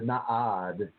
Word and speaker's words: nada: The nada is the nada, or the na'ad is another way to pronounce that.